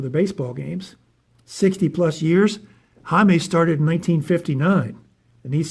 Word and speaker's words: Jaime: Spelled Jaime Jarrin, but it's pronounced Jaime Horin.